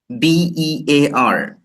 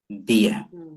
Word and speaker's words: bear: For example, um, B E A R. It has different meanings, right? But the pronunciation is also different.